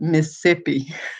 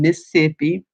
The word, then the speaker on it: Mississippi: So yes, it was more like he was saying miss and then ippy. So it was like Mississippi. It was missing a little syllable there.